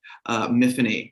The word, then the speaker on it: Myfanwy: So the main character of the Rook, Miffany, to rhyme with Tiffany, it's a Welsh name, and that's how the girl I used to babysit would say it.